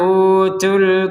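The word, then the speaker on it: أُوتُوا: Wa innal ladzina utul kitab. Nah, perhatikan di sini ada kata utu. Misalkan kita berhenti di utu maka tu-nya ini perhatikan ya. Utu, maka tu-nya ini dibaca dua harokat.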